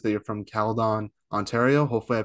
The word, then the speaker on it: Caledon: research on yourself, it says that you're from Caledon, Ontario. Hopefully, I pronounced that name correctly. But how did you start playing hockey and talk about growing up there? Yeah, you were close. It was Caledon.